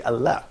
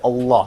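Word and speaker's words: الله: For example, when you say Allah, so we don't say Allah. Yeah. Can you see that? So we say Allah.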